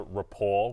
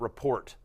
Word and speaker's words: rapport: it Rapport and not report which I thought you might have done no no no we don't say that in Australia okay we're very much in line with the uh the French pronunciation interesting okay understood well